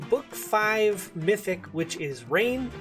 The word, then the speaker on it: Reginn: five mythic which is rain i think that's how her name is pronounced who is a very